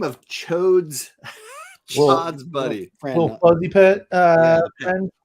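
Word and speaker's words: Ch'od: Chod.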